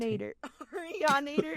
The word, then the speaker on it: Arianator: Arianator. Oh my god. So, it's like a Terminator, right?